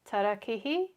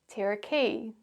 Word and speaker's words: tarakihi: Well, what you can see or hear in these examples is both the Māori pronunciation, pūkeko, manuka, kōwhai, pōhutukawa, tarakihi, and the anglicised version, pūkeko, manuka, kowai, pahurakawa, teraki.